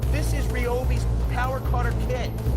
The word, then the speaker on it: Ryobi: listen here's the deal it's been confirmed over and over again from ryobi that is pronounced ryobi this usb rechargeable battery